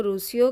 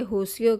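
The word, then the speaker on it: Rossio: ये होसियो कहते हैं, क्योंकि आर को ये एच प्रोनाउंस करते हैं। अगर मैं हुआ हम लिखते हैं कि पढ़ेंगे ना रुआ अगस्ता, लेकिन ये लोग कहेंगे हुआ अगस्ता। तो ये साथ साथ मैं आपको पुर्तगीज़ भी बता रही हूँ कि आर को जो है ये एच प्रोनाउंस करते हैं, एच की तरह।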